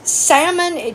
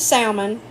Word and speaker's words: salmon: You get canned salmon. And I'm Southern, so it has an L in it. Or it's pronounced. Let me say that. The L is not silent in the South. We eat salmon down here, not salmon.